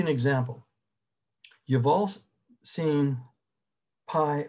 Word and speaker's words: pi: me it's pronounced p that's the way the greeks did but anyway pi uh you know that